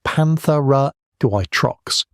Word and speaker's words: Panthera atrox: Panthera atrox, pronounced Panthera atrox, the American lion, may have hit 800 pounds, heavier than any lion alive today.